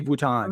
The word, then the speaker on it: Vuitton: How do you say Vuitton?